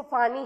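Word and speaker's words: Fani: The last cyclone was named by Bangladesh, जैसे मैंने बताया था फोनी, लिखते हैं इसको फानी है बट प्रोनाउंसिएशन उसका भी फोनी था, विच मीन्स स्नेक.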